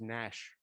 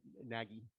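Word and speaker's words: Nagy: dreams i think that that name is pronounced nash rather than naggy okay thank you sorry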